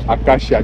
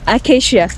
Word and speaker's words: Acacia: You know that tree called acacia? Yeah, acacia.